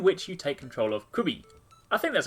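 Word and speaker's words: Qbby: puzzle game in which you take control of Quibby. I think that's how you pronounce it. It's Q-B-B-Y. Quibby.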